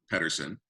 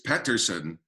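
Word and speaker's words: Pettersson: They all pronounce it, around the same way, but I wanted to use a little bit of how it's pronounced where he's from, and a little bit of how it's pronounced here, and blend two.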